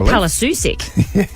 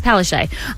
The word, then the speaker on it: Palaszczuk: I mean, it certainly doesn't read that way, but that's the correct pronunciation. It looks like Palaszczuk, but it's Palaszczuk.